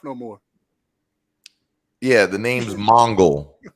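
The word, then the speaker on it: Mongul: hey is del pontion it's mongol yes mongol there it is mongrel no mongol matter of fact if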